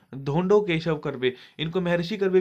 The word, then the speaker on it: धोंडो केशव कर्वे: 1958 में जो दिया गया वो दिया गया धोंडो केशव कर्वे, धोंडो केशव कर्वे, जी हाँ इनकी प्रोनाउंसिएशन होगी इनके नाम की, धोंडो केशव कर्वे, इनको महर्षि कर्वे भी कहा जाता है, एक बहुत बड़े सोशल रिफॉर्मर थे।